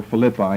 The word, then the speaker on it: Philippi: They're well known to you because of the New Testament, the book of Philippians, saints at Philippi, or Philippi, it can be pronounced either way.